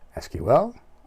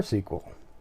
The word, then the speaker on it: SQL: was a trademark so that's why you'll hear SQL pronounced SQL or sequel so it can be